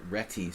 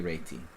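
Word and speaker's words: Réti: I learned chess I always thought it was reti so a lot of people say Rey but it's really Ry so you know now and we'll go back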